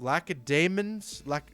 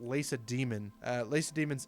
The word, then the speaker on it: Lacedaemon: And the reason I think it's pronounced Lacedaemons is because I actually kind of remember that from history class in high school. I think that's how my teacher was pronouncing it.